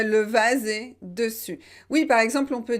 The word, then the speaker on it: dessus: difficile peut-être pour vous vous devez bien prononcer u et pas où une ou d'ong pourquoi c'est important et pourquoi j'insiste sur ça et bien c'est parce qu'il faut faire la différence entre dessus et dessous dessus dessous donc si